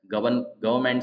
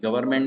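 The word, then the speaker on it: government: या आई एम गवर्न गवर्नमेंट servant अभ गवर्नमेंट में क्या आर साइलेंट है गवर्नमेंट गवर्नमेंट आई एम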